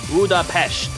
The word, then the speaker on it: Budapest: While the original Hungarian pronunciation is budapesh with an sh sound, the English convention retains the s.